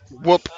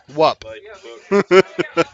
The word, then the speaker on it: Whoop: on and go yeah it's pronounced whoop not what what biomass races I